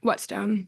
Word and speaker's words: Wetstone: The question I asked, and your last name is pronounced Wetstone, is that right? Wetstone.